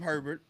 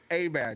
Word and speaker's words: Herbert: I don't know why they call him Herbert, but his name Oh. is A Bear, Justin A Bear. In Louisiana, he's an A Bear.